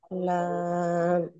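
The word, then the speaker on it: لام: হ্যাঁ, লাম এখন আমাদের একটু ভালো করে বোঝেন তারপরে।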